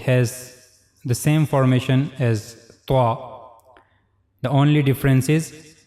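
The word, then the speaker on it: ط: And we also read that and z both these letters are bold letters. We have to make a bold voice while reading these two letters.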